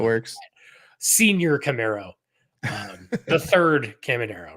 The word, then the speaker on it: Caminero: what, because again, we gotta, you said the name wrong. It's Caminero.